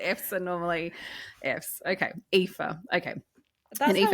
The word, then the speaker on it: Aoife: Okay, my guess is it Eve? I think it's Aoife. Aoife.